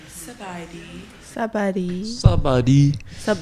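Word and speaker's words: ສະບາຍດີ: So next time you see someone, you should say Sabadi.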